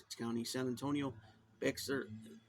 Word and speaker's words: Bexar: County, San Antonio, Bexar, Bear County, or is it Bexar? I don't know. I think it's Bear.